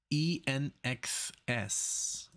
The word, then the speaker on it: INXS: now it's my first time for the band nxs I know it's pronounced that way because I've heard of them before uh nxs and it says guns on the sky very